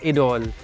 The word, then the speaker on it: Idôle: Now let's talk about Lancôme Idôle. It's French, so that is how you pronounce it.